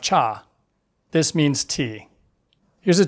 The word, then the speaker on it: 차: This is a single syllable: For letters, we have the "ch" from church and "ah" from father. Put them together, and you have 차 (cha).